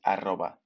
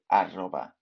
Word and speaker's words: arroba: First off, in Spanish, the at sign is translated as arroba. That's the word for at sign. So arroba. The double R here, tricky to pronounce, but just go for it.